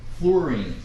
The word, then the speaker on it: fluorine: It's pronounced fluorine, not fluorine, but fluorine. And that's because it's spelled F-L-U-O-R-I-N-E. Most people spell it like flour, like you're baking. It's not F-L-O-U, it's F-L-U-O-R-I-N-E. It'll help if you pronounce it like flu, like we have the flu, which is spelled F-L-U.